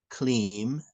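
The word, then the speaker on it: क्लीं: So the mantra is pronounced Hreem, Shreem, Kleem, Parameshvari, Svaha.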